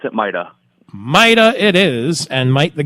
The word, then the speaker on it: MITA: pronounce the the acronym maida or maida we pronounce it maida Mida it is and might the governor have been